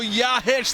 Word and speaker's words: Jakic: Otto Yahic, the most mispronounced name in MASL. They're going to learn how to say it for a goal like that, Joey Zanaboni.